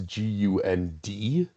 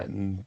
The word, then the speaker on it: Gund: Just for the record, it's Gund. not I don't care. Gunn, but yes, I agree.